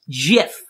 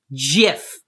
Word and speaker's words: GIF: not recording videos and yes it's pronounced jiff jiff and you know who